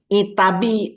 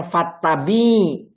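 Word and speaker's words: فَاتَّبِعْ: Apabila kamu sakit nah apabila kamu sakit ternyata berikutnya adalah ee itabi itabi tapi bacanya fattabi.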